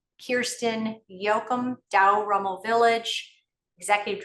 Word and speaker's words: Kjersten: Welcome, Kjersten Joachim.